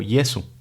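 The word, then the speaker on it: Jesu: La J tiene el valor de la Y en español. No se pronuncia de manera áspera, como diríamos de José, sino más bien, por ejemplo, vemos en el misal aleluya o Yesu.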